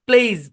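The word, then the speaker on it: plays: তারপরে ধরেন প্লেইজ, প্লেইজ মানে হচ্ছে খেলা। হ্যাঁ, প্লেস, যখন আপনি এই এসটাকে জেডের মতো উচ্চারণ করতে হবে, কিন্তু আপনি বলতেছেন প্লেস,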